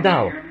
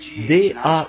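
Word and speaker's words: Dauch: et à vrai dire son nom c'est d a u G H mais moi je le prononce simplement da vous voyez et je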